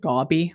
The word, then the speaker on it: Gaby: She pronounces it gobby, which is just strange to me.